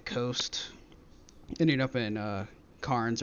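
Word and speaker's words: Cairns: ended up in uh Karns or Cannes as they like to pronounce it and we did a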